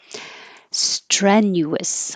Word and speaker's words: strenuous: unstressed syllable that's it strenuous I'm watching my accent very carefully so I say stress strength the vowel is air like head strenuous maneuver maneuver hindrance it